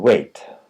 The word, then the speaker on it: weigh: the pronunciation wait and wait the IPA once again wait she's trying to lose weight and wait for me I'll be there in 10 minutes the GH in wait is silent where and where the